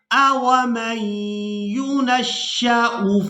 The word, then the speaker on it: أَوَمَن يُنَشَّأُ: لفظ کو بھی ہم نے پڑھنا سیکھنا ہے۔ أَوَمَن يُنَشَّأُ، أَوَمَن يُنَشَّأُ، اس لفظ کے ہجے اس طرح سے کریں گے، حمزہ زبر